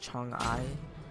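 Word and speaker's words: Chang'e: But yeah, this is my ideal god, and her name is cheng'e. And that's how you kind of say it in Chinese.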